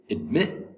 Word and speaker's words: admit: a verb um and okay admit admit admit has two syllables the second syllable has the accent admit admit is a